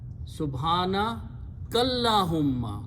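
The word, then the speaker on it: سبحانك اللهم: Then you read together, Subhana Kallahumma. You join kaf with the lam here. Okay, Subhanaka, kaf has a zabar. So you join that kaf with this lam and don't pronounce this alif in between.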